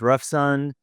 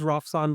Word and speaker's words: Rafsan: I'm here today with Ruffson. Ruffson, would you introduce yourself and first off make sure I pronounce your name properly.